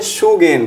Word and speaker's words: Sagaing: हम लोग बोलते हैं सगाइंग फॉल्ट। क्या बोलते हैं? सगाइंग fault, SAGAING। इसको कई प्रोनाउंसिएशन में इसको अलग अलग बोलते हैं। कुछ लोग इसको प्रोनाउंसिएशन बोलते हैं शुगेन।